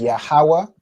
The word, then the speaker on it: Yahawa: ha fully right so if you pronounce the full letter ha this singular connector is going to go over here right and then you know the last part where it's w so yahawa that's that's the wa and